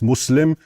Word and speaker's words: Muslim: And it's not mus it's not Muslim, it's Muslim.